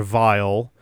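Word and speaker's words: Weil: Uh, there's a model W that is based on not Dr. Wy, but Dr. Vile, German pronunciation. That's always kind of how I assume that went.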